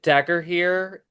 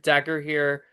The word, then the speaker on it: Dagorhir: I did Dagger here. It's spelled Dagorhir, Dagger here, combat LARP in Pennsylvania, and there's several forms of that kind, and they call it wacky bats.